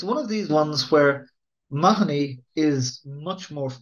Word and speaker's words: Mahoney: It's one of these ones where Mahoney is much more. This is the way the surname is pronounced in Ireland now.